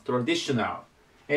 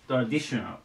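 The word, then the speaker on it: traditional: ちょっと長いですねこれでトラディショナルと言いますトラディショナルえアクセントがディノここに行きますトラディショナルでこれでちょっと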